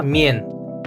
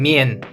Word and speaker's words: мен: Это слово мен. Ещё раз повторяем, мен. М е н, пишется так.